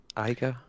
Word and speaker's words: Iga: Iga? Yeah, you that's pronounce that's what they said.